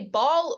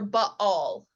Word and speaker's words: Baal: how widely the god, you can say Baal or Baal. Either way, it's kind of, or the two A's I think are supposed to be pronounced separately, but most English speakers just call it Baal.